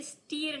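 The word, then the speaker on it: stir: आटा ग रही नेक्स्ट स्टर य स्टीर नहीं यह स्टर है तो स्पेलिंग देख के आपको लगता होगा आ स्टर व स्टर नहीं है स्टर बोलना है आपको स्टर करना यानी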